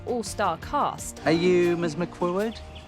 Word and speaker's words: McQuoid: McQuoid? Quad. One syllable. McQuoid. Well, 2 syllables. But the second part is 1 syllable. Wad. McWad. Is it Gaelic?